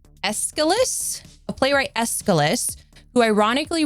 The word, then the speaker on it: Aeschylus: Playwright, I had to write how to pronounce the name because I'm awful with names. Aeschylus?